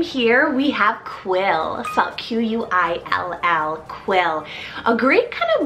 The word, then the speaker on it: Quill: famous Q name here we have quill fell q-u-i-l-l quill a great kind of modern and different